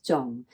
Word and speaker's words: 重: mistake because you're thinking, oh, it has to be 청, but actually no, it is zung.